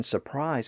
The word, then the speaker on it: surprise: drop that R anyway but even in regions like North America where the RS are usually pronounced the first R in Surprise is often dropped because it appears so close to that following R but as I noted